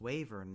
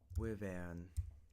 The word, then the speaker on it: wyvern: To most English speakers in the US, that is pronounced something like wyvern. Wyvern. Or wyvern. But to me, because of the effects of Canadian Rising that has appeared in parts of Vermont to an extent, I pronounce it as Wavern.